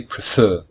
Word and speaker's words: prefer: are two syllables and the second syllable is stressed so we say prefer we don't say prefer